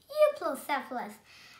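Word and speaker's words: Euoplocephalus: I'm going to tell you how to pronounce it. Euplocephalus. Euplocephalus.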